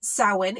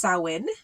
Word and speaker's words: Samhain: southern hemisphere it is April 30th it is pronounced sowin it is spelled Sam Hayne but is pronounced sauwin it's also known as Halloween all how is